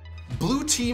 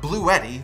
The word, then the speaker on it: Bluetti: more toy story movies blue team models finished as our top mid-sized and large picks and yes it's pronounced blue tea not blue eddy like spaghetti both the mid 50s